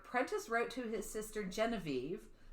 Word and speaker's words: Genevieve: So in October of this year, Prentice wrote to his sister Genevieve, unless you like the French pronunciation, which is Geneviève, which I think is prettier than Genevieve, but what do I know?